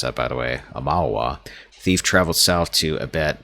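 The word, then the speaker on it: Aumaua: Following the Broken Stone War, the Amawa, I finally figured out how to pronounce that, by the way, Amawa, thief traveled south to Abet, then on to Nasatak.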